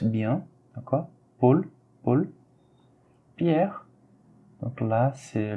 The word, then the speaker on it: Paul: Paul, AU, on le prononce par O. L, on le prononce bien, d'accord? Paul, Paul.